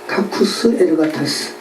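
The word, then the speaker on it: κακοὺς ἐργάτας: 카쿠스 에르가타스. 자, 아까 개들은 뭐라고요? 퀴나스. 자, 행악하는 자들은 뭐라고요? 카쿠스 에르가타스. 다 키읔 발음이죠. 크 발음입니다.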